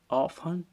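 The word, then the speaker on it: often: पर day generally usually ऑन seldom ऑन में T silent रहता है ठीक है यह ध्यान में रखना चाहिए ऑन में क्या साइलेंट रहेगा टी रहेगा वाक्य में ये एडवर्ब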